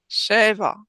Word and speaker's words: שבע: שבע. שבע. שבע. All right, now say both of them 3 times. שבע, שבתות. Sheva. Sheva. When you put them together, make sure you're accenting the first syllable.